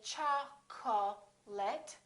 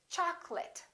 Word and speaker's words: chocolate: the e disappears different here are a couple of words with the letter O that a lot of people get wrong we don't say cha call let we say chocolate I remember don't say choc'late it's chocolate I'd like some chocolate in this next word